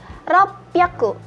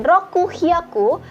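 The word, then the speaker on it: 六百: 600 ropyaku. Ropyaku. Jadi bukan roku hyaku tetapi ropyaku.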